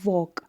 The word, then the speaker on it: walk: उसके बाद है लास्ट वाला आपका वॉक, WALK है ना, वॉल्क आता है ना, लेकिन हम इसको वॉक पढ़ते हैं, है ना। तो एल यहाँ पे साइलेंट हो गया, तो हो गया आपका आंसर यहाँ पे।